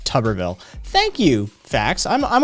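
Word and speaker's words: Tuberville: to mid 2000s and it's technically pronounced tubberville thank you facts i'm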